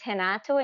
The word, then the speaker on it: Renato: you got it right my name is hanato and the first R in the beginning sounds like an H all right so tell